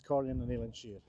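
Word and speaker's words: Comhairle nan Eilean Siar: In Gaelic, it's Corrin and Eilean Shear. That's it.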